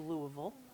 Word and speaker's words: Louisville: uh that's a local stoneware piece local to Louisville did you hear that I learned how to